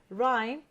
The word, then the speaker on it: rhyme: familiar with the pronunciation is it letter r h y or M rhyme we mute the letter H rhyme number two which